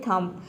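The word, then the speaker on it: thumb: साथ आ रहा है तो यह थंब नहीं होता है इसमें बी को हम प्रोनाउंस नहीं करते हैं बी सेलेट रहता है इसको केवल प्रोनाउंस करते हैं थम थम मतलब होता है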